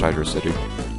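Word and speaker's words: Hydrocity: tell you hydy and I'm pretty sure it's PR supposed to be pronounced Hydro city um can be broke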